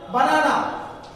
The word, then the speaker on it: banana: And banana, banana. Ikkada the syllable, which syllable? The stress marks fall in this particular second syllable.